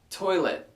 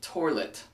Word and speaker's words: toilet: it Prelude number 12 toilet but I have heard people pronounce it like there's an r in the middle toilet you know I might